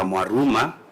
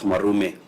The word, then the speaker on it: Mwaruma: It is Senator Mwaruma and the Committee of Education who went to Kericho. Senator Mwaruma, not Mwarume.